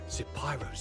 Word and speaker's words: Zapyro: Zapyro, 3 syllables of pure poetry.